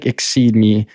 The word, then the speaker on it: Exeedme: So it's like Exceedme, more so the word exceed without the C in the middle.